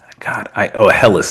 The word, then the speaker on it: Helles: A Helles.